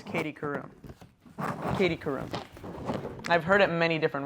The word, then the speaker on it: Karroum: Okay, how to pronounce Katie Karroum. Katie Karroum.